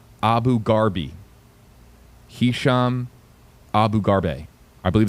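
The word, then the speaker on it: Abu Gharbie: Last name, Abu Garbe. Spelled A B U G H A R B I E. H.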